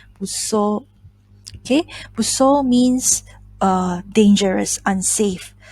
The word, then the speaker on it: 物騒: Okay, so this kanji is pronounced as busso.